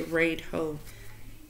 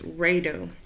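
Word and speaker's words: Raidho: I said Radho because that's literally how it's spelled, but it's Radho.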